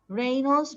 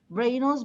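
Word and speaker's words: rhinos: রেইনোস মানে গন্ডার। রেইনোস বা রাইনোস দুইটাই রাইট, যে কোনো ভাবে এটা প্রোনাউন্স করা যায়, রেইনোস অথবা রাইনোস।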